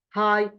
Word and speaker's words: high: Here we have gh which is don't pronounce it which is not pronounced in the word like what? Like knife high delighted.